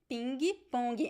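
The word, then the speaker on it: pingue-pongue: a fun word because in brazil we say pinkie pony and we do have we do write it with the g-g-u-e at the end right so the pronunciation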